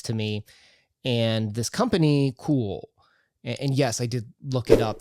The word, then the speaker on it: Kuoe: And this company, Cool, and yes, I did look it up. That is how you pronounce it. They put it in um katakana on their website for how to pronounce it.